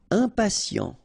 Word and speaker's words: impatient: Impatient. Okay, remember, final T not pronounced. And then you get this T, I, and a vowel, so sien. Sien.